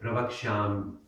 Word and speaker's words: pravakshyam: Now, you notice that Y at the end, pravakshyam, and then there's a Y, and the natural tendency, if you're an English speaker, is to read it pravakshyami.